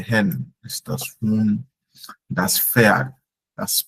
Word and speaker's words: Pferd: Das Pferd, das Pferd. Like the PF, Pferd. Krankenpfleger. Also like the P is not all that silent, but almost silent, but you hear the F more, like Pfleger.